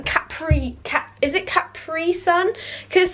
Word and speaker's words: Capri Sun: capri cat is it capri sun because some like americans say capri sun and it kind of winds me up because it's capri sun it's not capri it's